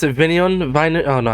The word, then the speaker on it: Vine: Vine? Oh no, how did you pronounce Jeremy it? Vine, yes.